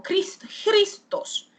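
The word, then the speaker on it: Χριστός: escribe con K y se pronuncia como Christos, el Christos, porque la K suena como un poquito a veces como a J.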